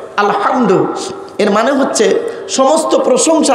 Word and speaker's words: আলহামদু: আলহামদুলিল্লাহি রাব্বিল আলামিন আলহামদু এই গলার ভেতর থেকে হে এটা উচ্চারণ করবেন আলহামদু এর মানে হচ্ছে সমস্ত